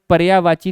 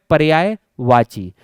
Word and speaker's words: पर्यायवाची: content प्रदान किया जाए मैंने कई बार देखा कि ऑनलाइन क्लास में भी कई सारे शिक्षकों के द्वारा पर्यायवाची शब्द का उच्चारण पर्यायवाची कर दिया जाता है और जैसे ही आप इस प्रकार के शब्दों का उच्चारण करते हैं तो भाषा की जो शुद्धता है वह यहीं समाप्त हो जाती है तो पहले तो इस बात पर ध्यान दीजिएगा कि शब्द है पर्यायवाची और यह जो पर्याय